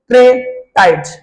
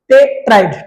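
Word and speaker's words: tetrad: Microspore ट्रेटाइड। टेट्राइड, टेट्राइड इसको बोलते हैं बेटा। मैं इसका जो प्रोनाउंसिएशन है वो कभी कभी गलत होता है, इसका बोलता है टेट्राइड।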